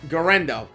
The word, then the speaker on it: Guerendo: Now, at the running back position, I'm going to mispronounce it, and I've been practicing it, but Isaac Guerendo. I got it. Guerendo.